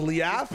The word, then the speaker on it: Leaf: HOW DO YOU PRONOUNCE THE LEAF? IT'S pronounced Leaf.